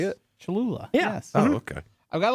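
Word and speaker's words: Cholula: it is is that how you say it chalula yes oh okay I've got a list here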